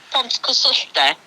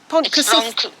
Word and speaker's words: Pontcysyllte: You know the aqueduct that I can't pronounce that's down near Chirk? Yeah. Yeah, how do you actually... Pontcysyllte. That's it. Or is it wrong? It's wrong. Pontcysyllte. Is it Pontcysyllte?